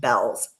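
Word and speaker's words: Beall's: a discount store called Bell's. Now it's spelled Beall apostrophe S. It is pronounced Bells. We called it Beals for the longest time.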